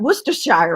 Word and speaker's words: Worcestershire: nightclub one of the the biggest nightclubs in worcestershire if i say it right worcestershire right that's it right worcestershire he's like yeah